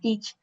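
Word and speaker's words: TEACCH: Hay un método que es una es un método teach, pues escribe th, pero se pronuncia teach, eh, donde es un modelo que surge en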